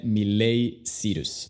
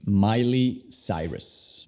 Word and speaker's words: Miley Cyrus: Bueno, no se dice Miley Cyrus, es Miley Cyrus. Este nombre es un poco raro. Si se escribiera como suena, sería como Miley.